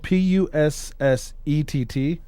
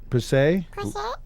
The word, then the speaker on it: Pussett: derivatives of this one, and that's it's spelled PUSSETT. Pusset, Pussay. But it's also known to be Pusscat and Pussmaid.